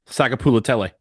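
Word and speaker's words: Sagapolutele: Pronounce it for me. Sakapulatele.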